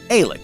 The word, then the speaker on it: Eilik: I hope I'm saying it correctly. Elik, Eilik? It looks like it would be pronounced like 8, so maybe Eilik? 8, I, 8, 8, Eilik? Eilik? 8, Eilik. Eilik. It's Eilik. Because it's like 8, but it's Eilik. I've got it.